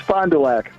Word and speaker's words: Fond du Lac: Fond du Lac Paul how do you say your town it's Fond du Lac yeah right exactly are you proud of your town it's a hard D yeah he's proud of